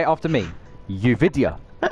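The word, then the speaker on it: Yoovidhya: We're We're going to do some pronunciation practice. Uvidia. Uvidia. Say it after me. Uvidia.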